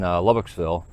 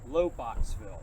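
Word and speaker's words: Lobachsville: 5 minutes from here, right over in Lubbocksville. That's where one of the locations was. So you had. What did you say? Lubbocksville? Lowboxville. What he said. Lowboxville. Lowboxville. That's how you say it.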